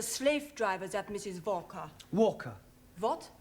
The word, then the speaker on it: Walker: she is a Slave drivers at Mrs Walker Walker what w is pronounced W your employer's name is Walker yeah